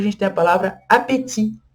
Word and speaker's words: appétit: Depois a gente tem a palavra appétit. Appétit também tem um T no final, mas a gente não pronuncia ele. Se fosse no português do Brasil, a gente teria a tendência de falar apetite, apetite, igual é no